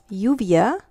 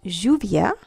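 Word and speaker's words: lluvia: pronounced like a y in some Latin American countries you will hear this pronounced like a soft J like for example the word yuvia is frequently pronounced Juvia okay and that's means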